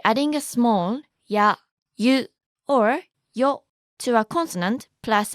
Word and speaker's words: を: Wo is actually more commonly pronounced as o, and n can sometimes be pronounced n or n, depending on the syllable that comes after it.